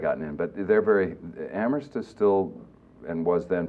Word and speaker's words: Amherst: Amherst College. The H is silent. Sorry? Like the, yes, my mother always used to say, like the P in swimming.